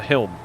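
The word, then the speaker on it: haulm: The Helm. There you go. Except it's spelled H-A-U-L-M.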